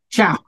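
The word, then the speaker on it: čau: So how do you say goodbye in Czech? What? Ciao. Okay. Like Italian. Ciao.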